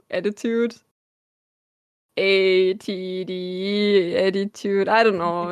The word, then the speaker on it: 82DE: It's like 82DE is like kind of sounds like I think attitude. ATD attitude. I don't know. It was literally like this on. Yeah, attitude.